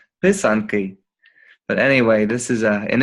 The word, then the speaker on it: pysanky: Pysanky. Okay. Yeah. So it's actually spelled like this. Oh, it's beautiful. It's spelled like this. Pisanki.